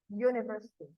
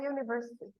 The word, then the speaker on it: university: start with you but it's not pronounced as a vowel it's pronounced as the letter U so University at University okay and it is